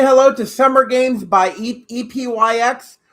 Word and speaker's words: Epyx: Say hello to Summer Games by EPYX or pronounced Epics.